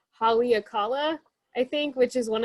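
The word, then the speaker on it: Haleakalā: It took me a long time to figure out how to pronounce. Let's see if I can do it right. Haleakala, I think, which is one of the other mountains in Hawaii that's sacred to the Hawaiian people.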